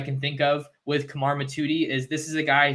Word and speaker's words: Mothudi: the other night that I wasn't pronouncing it right it's not mathuti it's Kamar matuti he's from Valley Village